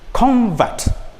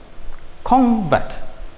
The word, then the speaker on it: convert: a word is used as a noun the stress is on the first level and your voice rises on first level if otherwise it's used as a verb the stress moves from the first syllable to the second syllable for example one we have noun and verb one we have convert convert he is a convert this is a noun